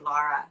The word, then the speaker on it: Lara: you prefer laura or laura how do you pronounce it well technically my name is laura because i mean that i'd have you in